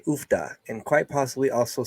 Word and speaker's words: uff da: Like, Oofta? yeah, like How do you spell that?